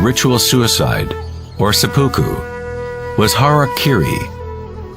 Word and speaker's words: harakiri: suicide or seppuku was harakiri was often mispronounced as harry kerry it means to impale